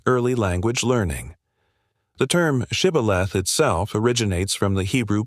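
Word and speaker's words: shibboleth: The Ephraomites said cibilth without the sheich sound revealing their identity.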